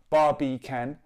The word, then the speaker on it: Barbican: with can as in barbie can as a three syllable well it's not three words but it's three syllables bar b can but you want three